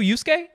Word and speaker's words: Yosuke: yusuke like like yuuyu hakusho yusuke that's how it's pronounced hey how about this one over here